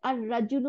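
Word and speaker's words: الرجل: আর রাজুলু মানে পুরুষ, একজন পুরুষ লোক, তাই না? তাহলে লামটা গিয়ে রর সাথে মিলে গিয়ে দুইটা র বানাই দিছে, আর রাজুলু, আর রাজুলু, দেখছেন?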